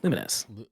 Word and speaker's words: Lumines: Is it actually pronounced? We definitely talked about this. Lumines, or is it Lumit? Yeah, Lumines.